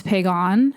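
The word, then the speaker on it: Piegan: One that I did notice while I was editing specifically is Pagan. That is a little bit closer to how it should be pronounced. The other is Picani.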